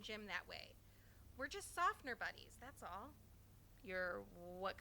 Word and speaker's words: Tsafnur: It's pronounced Tsafnur Days.